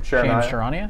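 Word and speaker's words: Charania: and then the Athletics shams how do you pronounce his name sure Anya sure Anya anyway I go farm like basically the shefter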